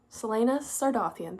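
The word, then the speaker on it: Celaena Sardothien: pronounce I'm going to try and use the pronunciation guide Selena sardan Selena sardian there we go the crown pce will provoke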